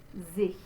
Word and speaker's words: sich: So there is our Z sound and our closed E, sehnet, sich. All right, so again, that vowel is I, like in the word is, and there's your Ich laut, like in Houston, sich.